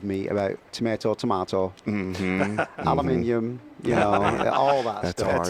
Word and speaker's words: aluminium: yes yeah words he says he can't even pronounce it the way you do it's aluminium aluminium how about Jaguar Jaguar all right yeah now